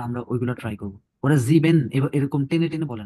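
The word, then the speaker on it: sieben: should যেটা রিস্টিজ ডয়েস তো এখানে জার্মানরা যেভাবে উচ্চারণ গুলো করে আমরা ওইগুলা ট্রাই করবো ওরা জিবেন এরকম টেনে টেনে বলে না হ্যাঁ লাঞ্জাম বলে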